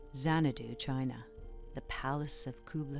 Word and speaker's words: Xanadu: The most remarkable of all, though, was Xanadu, pronounced Zhangdu, the palace of the great Khan.